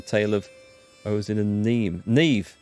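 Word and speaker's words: Niamh: of ozil and neem neve i think that's pronounced neve so ozin isn't going to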